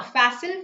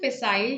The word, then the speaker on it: facile: not negative right now fasil facile you can pronounce it in any way both are correct okay so pasil if